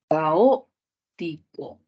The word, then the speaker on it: caótico: justificación es drula caótico si hacemos una separación silábica sería ca o co ahí hay cuatro sílabas y la mayor fuerza de voz dónde va a ir va a ir acá caotico y la justificación aquí